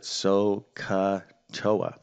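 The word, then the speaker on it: SOHCAHTOA: is this little phrase right here yeah we pronounce it soca toa okay and these are the basic trigonometric ratios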